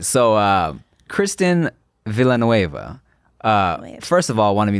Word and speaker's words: Villanueva: to make sure I pronounce her last name right because I've been saying Villanueva. It's not Villanueva. Really? Yeah, I thought you pronounced it wrong right now. Yeah. Nah, it's Villanueva. She's like, excuse me, I'm white. She said, "You say the L's.